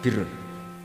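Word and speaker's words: بِرٌّ: Ya kalau di isim fa'ilnya umumnya guru-guru kita baca barin, tapi untuk masdarnya, untuk kebaikan bacanya apa? Birun. Nanti kamu protes, oh Barun itu daratan Gus, kalau Birun itu kebaikan.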